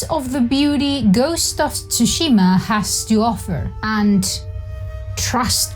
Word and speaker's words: Tsushima: When I learned of the existence of Ghost of Tsushima, which, by the way, that's its actual pronunciation. That's how you pronounce Tsushima, not Tsushima or Tsushima as if it were Shushima. No, it's not sushi.